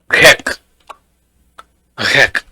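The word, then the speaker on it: grec: I'm pronouncing the C, right, Ani? I'm Right. pronouncing the C. So what should I for feminine form क्या होगी इसकी फिर? What will be the feminine? QUV. Grek. Grek.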